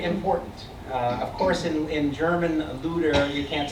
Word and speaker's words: Luther: Of course, in German, Luther, you can't spell it. You can't say a TH in German. It just doesn't happen. So it's Luther, even in German as it's spelled now.